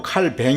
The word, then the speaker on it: 칼뱅: 우리 저한 칼빈이 있습니다 칼빈이 라고 발음하기도 하고 칼뱅 이라고 발음 하기도 하고 똑같은 분이십니다 장로교 우리가 미국에 형